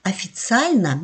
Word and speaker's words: официально: Например, слово «официально», если вы обратили внимание, первый слог, первый гласный «о» я произношу как «а», потому что оно в безударном положении.